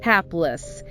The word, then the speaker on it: hapless: Hapless. HAPLESS. Stress the first syllable, hapless. That A is like in apple.